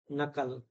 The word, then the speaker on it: knuckle: g silent venine venine design meline here H is silent honary honorarium K silent knife no knuckle L Al alms you used to say alms